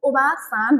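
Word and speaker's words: おばあさん: ग्रेन्डमदरलाई अनि अर्को ग्रेडमदरलाई ओबासान भनिन्छ है ओबा आ पनि हुन्छ है उच्चारणमा ओबा सान भनिन्छ अनि फादरलाई चिची भनिन्छ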